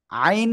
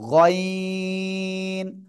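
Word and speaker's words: غ: পারবেন বলেন তো আইন না কিন্তু গাইন গাইন মাশাল্লাহ মাশাল্লাহ ওকে এরপরে দেখেন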